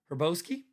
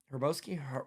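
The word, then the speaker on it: Hrabosky: and Al Herboski. Herboski Raboski probably Roboski H is silent.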